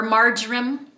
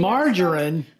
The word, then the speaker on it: marjoram: Or marjoram. Depends on where you are in the country. Margarine?